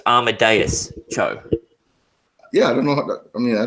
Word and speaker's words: Amadeus Cho: It's not It's Adameus. pronounced. It cut out a little bit, so it's Amadeus Cho.